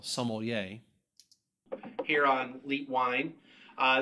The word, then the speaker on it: sommelier: everybody welcome to sommelier school and i used to say sama samaye or something like that now i actually pronounce the l sommelier here on leap wine